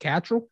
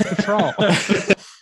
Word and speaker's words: Cattrall: Cattrall? Kim Cattrall. Kim Cattrall. Okay. Chad, I'm just being crazy. Dumb. He's trying to throw you off, Josh. Yeah, really. I was like, I always thought it was Cattrall.